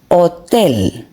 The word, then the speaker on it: hotel: And here the last one, hotel. Hotel. As you can appreciate, the ha doesn't sound.